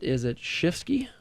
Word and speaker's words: Schifsky: Is it Schifsky? That's correct.